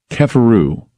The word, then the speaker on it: Kheperu: But it's not, okay, it's not pronounced Keper, they're telling me. It's called Kefer. So it's Im Keperu, not Keperu. Keheperu, it's Kefer. Pronounced Keperu. So some people do know this. And I'm wondering about, Im Keperu, the Im Keperu mantra. It's spelled Kheperu. Wow, I get educated by people out there that know better. It's Kefer, Keferu.